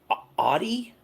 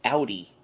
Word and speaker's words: Audi: Do they call it an Audi in Michigan? In Jersey, we call it an Audi, like an Audi belly button.